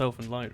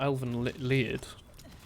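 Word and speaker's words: Elfen Lied: Elfin Lied is definitely pronounced Elfin Lied, right? It's not Elven Lied. Elfin Lied or something, is it?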